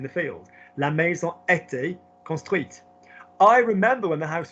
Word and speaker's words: construite: So if I then got construit and I then make it feminine as an adjective, how will I pronounce that word? Construite. That's it.